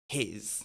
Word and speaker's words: he's: Mais ici, nous avons la forme contractée qui va se prononcer his. Tout comme le H-I-S, qui est l'adjectif possessif, his. His car. C'est la même chose.